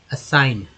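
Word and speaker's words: assign: Actually GN जो है यहाँ पर ना के रूप में उच्चारण हुआ, जी साइलेंट है, इसलिए जी का कोई इस्तेमाल नहीं किया गया।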